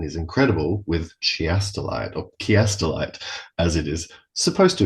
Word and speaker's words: Chiastolite: leads into and is incredible with chiastelite or kiastelite as it is supposed to be pronounced.